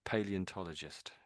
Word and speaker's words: paleontologist: Paleontologist.